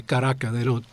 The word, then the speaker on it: Caracas: Caracas, as the locals say, Caracas. They don't have the A on the end.